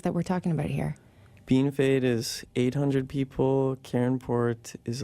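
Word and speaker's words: Bienfait: So you grew up in Beanfate, Saskatchewan.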